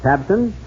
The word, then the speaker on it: Tabcin: But have you heard about Tabson? That's spelled Tabcin.